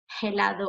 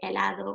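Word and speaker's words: helado: and so for example in spanish the h is mute so you wouldn't say hellado or historia you would say elador or and i would post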